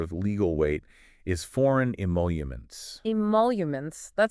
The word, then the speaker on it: emoluments: Oh, right, the emoluments clause. Exactly. And they gave the pronunciation, too. How was it again? It's emoluments.